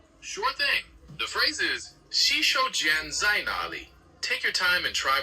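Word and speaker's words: 洗手间在哪里: The phrase is xǐshǒujiān zài nǎlǐ. Take your time and try pronouncing it.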